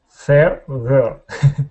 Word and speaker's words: feather: Okay, so you're starting off right now with your tongue between your teeth, saying feather. Okay. Feather. Put your teeth like that. Okay, pronounce an F for me. Like from. Say the word from. From. Okay. So that F sound, okay, you put your teeth on your bottom lip.